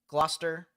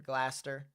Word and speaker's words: Gloucester: Fort Adams Woodville Centerville Gloucester or glaster either or however way you pronounce it Crosby and Wilkinson as